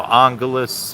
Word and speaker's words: Angeles: you know Angeles City they pronounce it differently than Los Angeles it's you know Angeles or Angeles City and this smart Wi-Fi